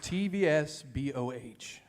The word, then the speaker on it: TVSBOH: It's pronounced TVSBOH. TV's. TV or just TVSBOH.